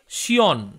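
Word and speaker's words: scion: উত্তরটি হলো স্টক ওশিয়ন এখানে সঠিক উচ্চারণটি হবে শিয়ন পরবর্তী প্রশ্নটি হল গ্রাফটিং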